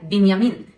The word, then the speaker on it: בנימין: Esta pronúncia Benjamin Netanyahu é falsa. Inclusive, no hebraico não existe letra com som de J. E o filho caçula de Jacó se chama Benjamim, ou em hebraico, Binyamin, e vem da mesma palavra,